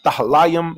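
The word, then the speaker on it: תהלים: Tahalayam is how you say Psalms.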